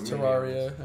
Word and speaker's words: Terraria: my second favorite game it's Terraria actually is how you pronounce it thank you for being